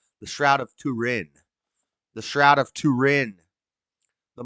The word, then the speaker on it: Turin: The Shroud of Turin.